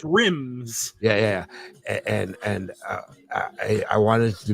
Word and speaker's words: Rymez: It could be perfect for it and super valuable, which is rhymes, spelled RYMEZ. Okay. You can't spell it with less letters, right? Right. .io, right? Otherwise, so, it's rims.